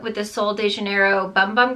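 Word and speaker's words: Sol de Janeiro Bum Bum: the sole de janeiro bum bum cream or boom boom cream i think someone told me is how you say it um if you put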